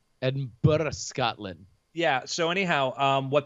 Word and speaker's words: Edinburgh: It's pronounced Burr, Edinburgh, Scotland.